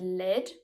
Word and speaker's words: led: The word lead always has the same E sound as in red.